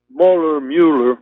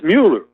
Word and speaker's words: Mueller: It's the guy, Mueller, another guy, nobody knows how to pronounce his name. It's Mueller, but everybody calls him Mueller.